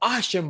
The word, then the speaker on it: Archambeau: Archambeau.